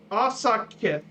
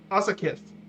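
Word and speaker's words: afsakið: Then sorry is Asakith. Asakith. Asakith is sorry. Asakith.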